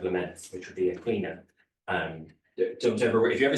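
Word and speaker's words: caoineadh: So if you've ever met anybody called Aisling or Breed or Sinead or Niamh, you know this, but certainly you'd never know that it's pronounced quina.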